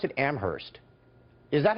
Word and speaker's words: Amherst: noticed you pronounced it Amherst is that how it's set in Massachusetts UMass Amherst okay I'm just asking because I've always heard Amherst like that H is kind of silent I didn't know in